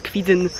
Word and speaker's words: Kwidzyn: Kiedyś myślałam, że nazwa tego miasta to KwidzyŃ, wiele osób tak to wymawia. Ale teraz kiedy mieszkam na Pomorzu, wiem, że mówi się KwidzyN.